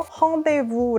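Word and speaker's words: rendez-vous: 샴푸 이름이 랑데부가 있었어요 이거 불어로 헝데부 아고 발음을 해요 원래 약속이란 뜻이에요 그래서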